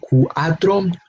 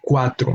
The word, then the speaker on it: cuatro: quatrain which is for we do not pronounce the word coup atom but Quattro know the UN a become part of the same syllable it becomes a word with only two syllables no sorry with only